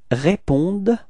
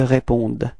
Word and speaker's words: répondent: But then keep in mind that for verbs we don't pronounce them, so ENT is actually not pronounced, it's only répondded, okay?